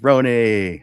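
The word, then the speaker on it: Rony: So, my name is Rooney, pronounced R O N Y, pronounced like Rooney, like macaroni.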